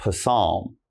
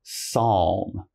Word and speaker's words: psalm: Now, the next one here, it's not psalm, all right? Now, this we just say psalm.